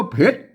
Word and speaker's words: เผ็ด: ส่วน สูง พระ นะ ครับ อืม อ่าน ว่า เผ็ด ๆ ๆ นะ ครับ แหม่ อัน ว่า เพลง